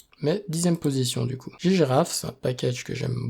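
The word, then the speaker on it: ggraph: donc pour l'analyse de réseau et on a ggiraf parce que c'est comme ça qu' dit qu'il faut le prononcer qui est là en fait pour nous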